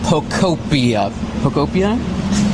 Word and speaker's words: Pokopia: How many of y'all already have your copy of Pokopia?